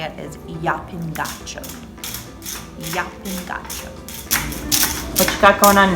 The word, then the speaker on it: Llapin: apparently the correct way to say it is yapping what you got going on now uh just